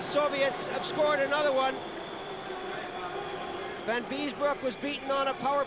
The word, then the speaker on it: Van Biesbroek: Van Biesbroek, I'll say it correctly this time, as he took a chop at Ломакин.